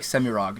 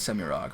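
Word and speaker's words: Semirhage: I'm finally starting to tip towards Semirog, but Semirage was how I pronounced it for like the first 15 years, and anybody who says that is going to be like, okay, well they're probably saying it the right way, I guess.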